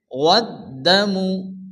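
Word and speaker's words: وَالدَّمُ: দালের উপরে তাসদীদ, যে অক্ষরের উপরে তাসদীদ আসে সে অক্ষরটিকে দুবার উচ্চারণ করে পড়তে হয়। প্রথমত ডান দিকের অক্ষরের সঙ্গে মিলিয়ে পড়তে হবে, এরপরে শুধুমাত্র সে অক্ষরটি উচ্চারণ হবে।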